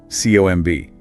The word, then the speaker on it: comb: Or comb. C O MB, but no B sound, just comb or debt.